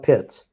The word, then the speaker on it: Pitts: He calls himself Pitts. Pitts, okay.